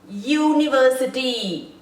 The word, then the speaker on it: university: sound the word makes University is it making youu you is it making a Vel sound no and if it